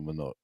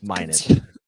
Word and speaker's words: Minot: no one wants to come to manote it's minote no one wants to